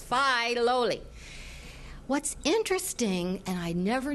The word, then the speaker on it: Filoli: And it's pronounced Filoli. I'd always said Filoli, right? But it's Filoli.